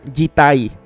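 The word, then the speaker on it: 自体: es una especial, que en japonés se pronuncia jitai.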